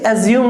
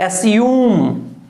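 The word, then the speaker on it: assume: अच्छा इसे एज्यूम नहीं बोलेंगे, एस्यूम, ठीक है, एस्यूम प्रोनाउंसिएशन है इसका, एस्यूम, नॉट एज्यूम।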